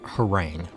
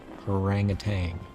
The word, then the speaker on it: harangue: It's pronounced harangue. Okay. Haranguang.